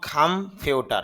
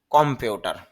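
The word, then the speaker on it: computer: আমরা ইংলিশটা বলবো খাম্পিউটার। আর বাংলা উচ্চারণটা হবে কম্পিউটার।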